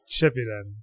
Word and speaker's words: Shippuden: So I started Shippuden.